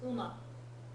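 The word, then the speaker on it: 馬: and usage so like in Chinese this is ma in Japanese it's Uma it's one of the ones where the Japanese pronunciation is actually fairly close yeah this one power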